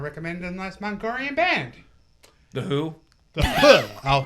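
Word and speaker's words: The Hu: call to spare yes the who spelled hu not to be confused not to be conf confused with yes yes not that who same pronunciation different spelling different Mongolian metal Mongolian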